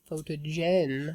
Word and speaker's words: Photogen: But even in generation, you say photogen. We do because, well, we do a j sound in English, but that's not in Greek or Latin.